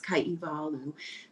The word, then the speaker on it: Kaihewalu: the w is the proper way is is pronounced v so we see it as blue but it's kaivalu yeah so no problem if you prefer to